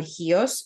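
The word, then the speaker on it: Chios: resin from specifically a tree that grows on hios on an island um it's spelled like chos c h iio in English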